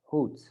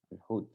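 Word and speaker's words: hoed: Like hood. Hood. That means a hat.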